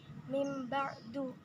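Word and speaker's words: مِنْ بَعْدِ: Contohnya itu dalam kata min ba'du. Nah, yang dimana pelafalannya itu akan berubah menjadi min ba'du dikarenakan huruf ba ini akan mempengaruhi huruf nun yang berada di belakangnya, sehingga huruf nun ini akan berubah menjadi huruf mim karena mim ini menyerupai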